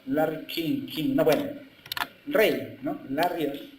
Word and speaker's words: Larry King: Así se pronuncia, Larry King, no, bueno, Rey, ¿no?